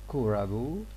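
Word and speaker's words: クラブ: okay let me repeat for japanese club and school will be pronounced as kurabu and sukuru respectively what does this mean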